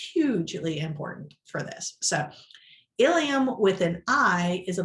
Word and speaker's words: ilium: the same page so we have examples here ilium and ilium are both pronounced ilium however notice the spelling the i and the e changes and that makes them totally different things this is why when